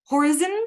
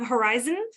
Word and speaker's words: horizon: Apparently, some folks were saying horizon instead of horizon. So putting the stress on the first syllable.